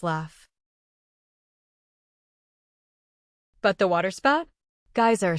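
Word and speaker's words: Geysir: The geyser, a word the Icelanders pronounce geyser and which signifies fury, rose majestically from its summit.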